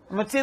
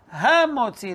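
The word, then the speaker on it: המוציא: Motzi Lechem, Motzi Lechem. No. Ha Motzi Lechem.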